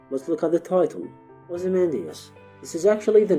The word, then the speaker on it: Ozymandias: Now, if I pronounce the name of the poem Ozymandias, giving it 5 syllables, but Shelley in his time period and in Britain would have pronounced it Ozymandias, giving it only 4 syllables.